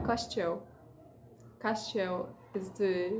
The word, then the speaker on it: Castiel: I hate that his name in English is pronounced Caistio. Porque é o Castiel. Castiel is the right pronunciation.